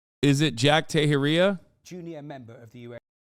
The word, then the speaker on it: Teixeira: Jack tejeria am I saying that right is it Jack tahiria Junior member of the US wait hold on he'll say it right in a second Tashara Tashara Jack Tashara uh is appearing in U.S